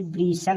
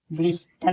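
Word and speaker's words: bristle: यहां T silent है बी आर आई एस टी एल ई इसे ब्रिसल पढ़ेंगे ब्रिस्टल नहीं इसे ब्रिसल पढ़ेंगे यानी टी यहां साइलेंट है बी यू एस टी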